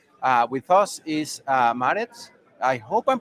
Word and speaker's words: Maaret: Uh with us is uh Marit. I hope I'm pronouncing it well. I won't try your last name because I know I'm going to mess it up. How do you say your name right? Marvi.